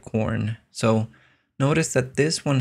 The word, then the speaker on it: Corne: I think it sounds like corn.